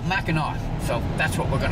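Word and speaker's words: Mackinac: Michigan's Upper Peninsula now I know if you look at the way it's spelled it's macak but up here all the locals call it Macar so that's what we're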